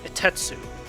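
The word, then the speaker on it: 一徹: According to the Haikyuu guidebook, Furodate gave him the name Itetsu, with the Japanese idiom meaning very tenacious in mind. Both the kanji for Takeda-sensei's name and the idiom are both pronounced as itetsu.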